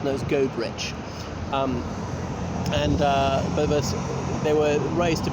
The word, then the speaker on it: Goderich: I know some people think it's pronounced Goderich or Goderich, but it's known as Goderich.